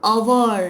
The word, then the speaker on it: hour: I will meet you in an hour. Hour. Here H is silent.